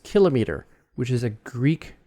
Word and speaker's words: kilometer: common it became kilometer it became latinized you know sort of pronounced more like latin because it's more like